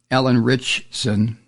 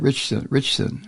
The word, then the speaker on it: Alan Ritchson: In this case, Alan Ritchson. How do you say it? Ritchson.